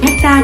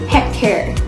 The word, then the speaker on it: hectare: Hectare thì có hai cách đọc, bạn có thể đọc là hectare hoặc là hectare.